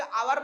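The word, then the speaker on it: hour: हवर को हवर ना बोल के आवर बोलते हैं।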